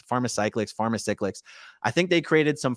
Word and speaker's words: Pharmacyclics: It's Pharmacyclics.